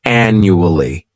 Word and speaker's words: annually: first adverb is annually this word has four syllables and the stress is on that first syllable the second syllable it's like you're just saying that letter U and the third syllable has that schah and new Al